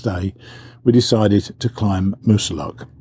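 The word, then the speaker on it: Moosilauke: we decided to climb musa luck I could get in the name wrong I keep saying most lucky I believe it's Musa luck and it's one of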